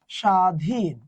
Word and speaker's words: স্বাধীন: স্বাধীন। ওকে, দেখো তো এখানে শয় ব, বটা লোপ পাইছে, বটা কি নাসিক্য? না, ব নাসিক্য নয়, তাই তার উপরে চন্দ্রবিন্দু হবে না।